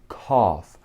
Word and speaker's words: cough: cough. ننطق GH cough.